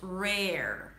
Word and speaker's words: rare: It's difficult, but the secret here is to start strong. Re as if you're about to say red.